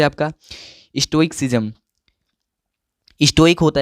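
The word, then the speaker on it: stoicism: से परे हो, तो उसी को बोलते हैं स्टोइक्सिज्म। स्टोइकिज्म, ठीक है। इसका प्रोनाउंसिएशन राइट क्या होगा? स्टोइकिज्म।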